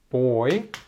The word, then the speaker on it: buoy: 이거는 발음 주의하십시오. buoy.